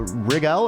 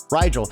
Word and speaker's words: Rigel: if i'm mispronouncing it is it uh regal or uh right right right rigel so rigel was mentioned